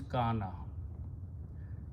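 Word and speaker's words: كان: Kawana, Waw with a fatha sounds like an alif. So we pronounce this alif and the word becomes kana.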